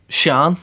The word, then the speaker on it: sean: Shan. Sean. So Shan, this is Sean. Like the way my name is meant to be pronounced Shan is is like Shan or Shand.